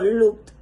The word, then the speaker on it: looked: sordas, excepto la t, pronunciamos la terminación ed como una t. Por ejemplo, cuando se quiere decir looked, se dice como looked.